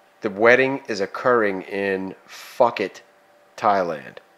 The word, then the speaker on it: Phuket: The wedding is occurring in Phuket, Thailand. Phuket. No, it's Phuket. Which is pronounced Phuket.